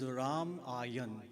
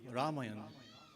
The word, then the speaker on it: Ramayan: The correct pronunciation of the word is raayan. Ramayan and the Ramayan ayan means journey.